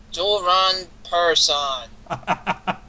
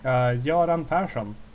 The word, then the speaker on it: Göran Persson: Joran Person.